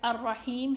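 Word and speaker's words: الرحيم: Ha of the word Ar-Rahim has kasra under it, so it would be read Ar-Rahim.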